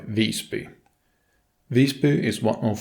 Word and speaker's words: Visby: Visby has the same pronunciation of VIS as in, for example, Isa, but by is not at all like the English by. The closest I could come up with was how you start when saying Byzantine Empire, but with a longer Y.